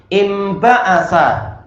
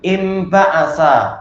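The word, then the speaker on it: انبعث: dalam satu kata, nahwu imba'asa, bangkit atau terbangkitkan. Tulisannya pakai nun tapi cara bacanya pakai mim, imba'asa.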